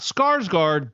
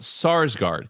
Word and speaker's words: Sarsgaard: his name right, but I think it's Peter Sarsgaard, not Skarsgård, but Sarsgaard. He's the guy that was in the movie The Orphan.